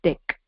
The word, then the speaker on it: deque: for double ended Q you can also pronounce it as deck so double ended Q